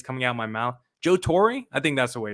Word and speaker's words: Joe Torre: not the way it's coming out my mouth joe torrey i think that's the way it's pronounced joe torre in his 2009 book the